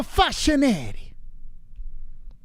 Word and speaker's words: Facchinetti: see dj francisco fascinati francisco fascinari that's how you say his name i heard a lot of people saying it wrong maybe fascinating dj right